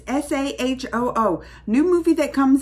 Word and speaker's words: Saaho: I might do so say how was the trailer it's not how you say it's SAH oh oh new movie that